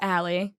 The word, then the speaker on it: Ali: it but anyway so my name's Ally which is spelled Ali got it and then